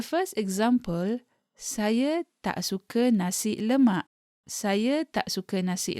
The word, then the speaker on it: nasi: The word nasi is colloquially pronounced with a K at the end of it.